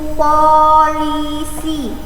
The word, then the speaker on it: police: Jadi supirnya pesawat itu namanya pilot, itu polisi. Jadi ketika kalian berbicara sama orang lain itu tidak salah gitu ya. Jadi kalau bicara sama orang lain jangan police gitu, tapi polis.